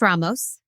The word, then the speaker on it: Ramos: Like Anthony Ramos, like 30 seconds in and I'm leaving my husband already. Yeah. Which I fully support because I'd like to hang out with him. Yeah. It is pronounced Ramos.